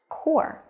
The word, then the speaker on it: corps: sense but no actually there are some silent letters in this word this word is probably very difficult but if you know the phonetic alphabet you already know that this word is pronounced core so you can see